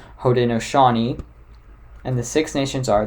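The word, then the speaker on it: Haudenosaunee: their actual real name the real name is pronounced hoden noani and the six nations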